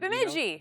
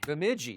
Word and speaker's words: Bemidji: But he was a star at Bemidji State or Bemidji. How do you say it? Bemidji. Bemidji. See, there you go.